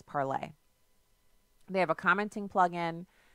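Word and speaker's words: Parler: AR le our home parlor com I'm pronouncing it that way so you can know how to spell it but the pronunciation of correct fantasy parlez they have a commenting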